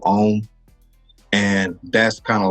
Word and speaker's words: Homme: Like people pronounce it home instead of Homme.